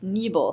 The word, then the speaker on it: Knebel: as well as Knebel. Did I pronounce that right? It's Knebel, so really close.